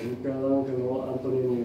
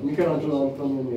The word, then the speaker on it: Michelangelo Antonioni: (here's the other side - an exit from Almeria) ...is a protagonist of the movie "Passenger" by Michelangelo Antonioni, Michalangelo Antonioni, [the right pronunciation] with Jack Nicholson.